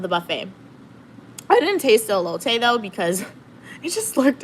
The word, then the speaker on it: elote: I've heard of elote Drake.